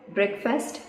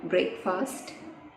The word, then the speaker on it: breakfast: Fourth one, breakfast, not breakfast.